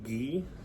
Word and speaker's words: gi: little bit heavier but this is called a ghee spelled GI I believe it's spelled GI uh this is for jiujitsu uh